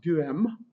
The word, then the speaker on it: Duhem: He gets mentioned a good bit in our textbook, and it's pronounced Duhem.